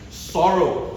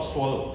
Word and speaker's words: sorrow: Sorrow. Sorrow. Not swallow.